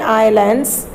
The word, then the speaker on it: islands: So TUTSUNAMI, tsunami, that had hit the Hawaiian Hawaiian Islands. This is silent, so you should pronounce it as islands only.